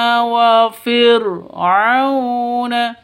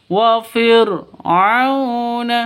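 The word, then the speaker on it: وَفِرْعَوْنَ: Nah, di sini ada waw mati sebelumnya sebelumnya fathah. Jadi bukan dhammah sebelum waw mati. Maka ini bacanya bukan dibaca panjang tapi dibaca lentur, lemes ya. Lentur, lemes, tidak boleh disentak, tidak boleh dipanjangkan.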